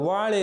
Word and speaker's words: வாழை: இப்போது வாழை என்றால் முந்தைய பண்டிதர்கள் என்ன மாதிரி உச்சரிப்பார்கள், வாயை என்று உச்சரிப்பார்கள்.